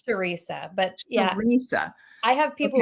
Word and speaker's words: Charissa: I'm doing really well how are you it's chissa right it's sharesa but Teresa I have people who worked with